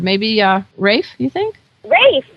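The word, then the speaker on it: Ralph: uh Rafe you think Rafe that sounds great and it's spelled r a l p how's that and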